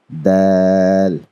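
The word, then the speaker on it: د: Dal. Now this is also a softly pronounced letter.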